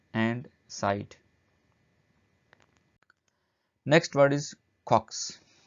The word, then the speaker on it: caucus: Next word is caucus. Caucus, इसको कॉक्स भी, इसका प्रोनाउंसिएशन आ रहा है, कॉक्स भी आ रहा है, तो अमेरिकन और ब्रिटिश प्रोनाउंसिएशन थोड़ा सा चेंज है, कॉक्स कह रहे हैं इसको।